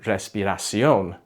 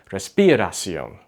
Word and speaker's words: respiración: Another error English speakers do is they'll put the accent or the emphasis on the wrong syllable. So instead of saying respiración, they might say respiración.